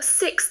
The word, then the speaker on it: sixth: Remember, sixth has that tricky th sound at the end. It can take a bit of practice to get right.